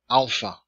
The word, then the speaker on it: alpha: pronunciation for this video the first letter is alpha alpha ah as in father the second is beta